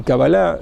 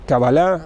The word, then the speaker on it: Kabbalah: Nachman se dice, o Nachman en español se acentúan como Cábala y Kabbalah en la primera sílaba o en la última. En español es Cábala, en hebreo es Kabbalah, así se dice Nachman, pero en hebreo se diría Nachman.